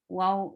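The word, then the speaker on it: واو: بصير بما يعملون ولتجدنهم wow, circle your lips for wow.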